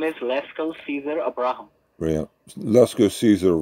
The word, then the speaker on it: Lesco: No, it's Lesco.